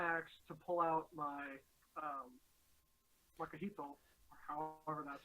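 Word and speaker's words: macuahuitl: to pull out my Makahito, or however that's pronounced. So I figured out how it's pronounced. It's pronounced Makaweedle.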